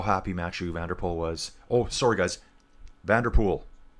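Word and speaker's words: Van der Poel: I'm going to start using Vanderpool. I like Vanderpool. Vander Vander ser sounds very North American, doesn't it? They're going to hate me for that. But it's pool.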